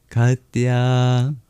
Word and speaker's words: Katyā: For example, there's a couple long vowels. The O is long and the two A's in kata are long and at the end there's a dip thong I that's also long.